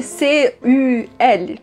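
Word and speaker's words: cul: Se escreve C-U-L, né? Mas se lê cu.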